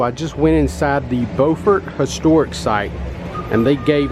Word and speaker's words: Beaufort: Make sure you pronounce it correctly. Beaufort, not Beaufort.